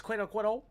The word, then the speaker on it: quinacridone: Is that Is that how it's pronounced? Quinacridone. Oh, it's quinacridone.